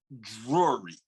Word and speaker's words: Drury: I just introduced you, Creighton Drury.